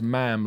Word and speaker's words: ma'am: Well, you say, I think with the Queen, they're always like you greet her as ma'am, like jam, not ma'am, ma'am. Yeah. Ma'am rhymes with jam.